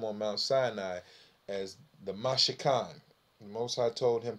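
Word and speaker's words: מִשְׁכָּן: And the most popular word that one of the most popular words was the word H4908, which is Mashakana, which when you pronounce it, Mashakan.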